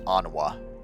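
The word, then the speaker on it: Honoroit: Honroit, which is pronounced Onwa.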